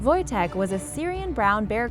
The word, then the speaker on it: Wojtek: Wojtek (pronounced Voytek) was a Syrian brown